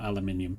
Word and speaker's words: aluminium: Uh so, we had concrete bricks and we also set up aluminum or aluminium as it's properly pronounced.